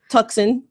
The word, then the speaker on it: Tucson: Tucson, Arizona. Tucson. Kicked it off. Tucson. Tucson. Come on. There's a C in there. Silent. C is silent.